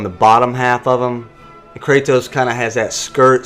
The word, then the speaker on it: Kratos: um you pronounce that kattos you're supposed to actually roll your R it's like Kos but